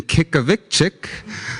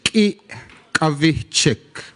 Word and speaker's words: Kyikavichik: Well, first of all, my name is Kyikavichik, and that's sort of the anglicized way of saying it. The way you say it properly is Kyikavichik, and Ki is arrow, and Kavichik is let me carry it.